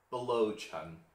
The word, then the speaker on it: Biluochun: Biluochun. I think the first U is silent.